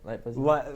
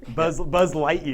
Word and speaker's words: Buzz Lightyear: Did I say it right? Light Buzzier? Light Buzzier? Buzz Lightyear. Buzz Lightyear, yeah.